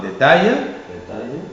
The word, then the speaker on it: détail: La prononciation AIL, la graphie AIL, pardon, la graphie AIL prononcée aïe, position finale de mot. Alors tu liras avec moi détail, aïe.